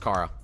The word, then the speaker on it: Cara: It's pronounced Kara.